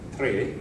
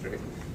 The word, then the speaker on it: Tre: provider that is named Tre. That's the correct pronunciation. I know that sounds like three, and it's three, but it's Tre.